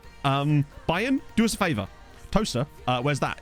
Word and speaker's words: Towcester: When we were, yeah, it's spelt Towcester, but it's pronounced Toaster because English.